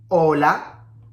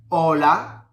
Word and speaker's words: hola: keep in mind, every time you see a H, you don't have to pronounce it. So we have hola, habitación, helado. Hola, habitación, helado.